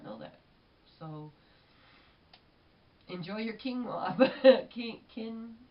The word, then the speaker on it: quinoa: that so enjoy your quinoa Ken quinoa I think is how you pronounce it I found out I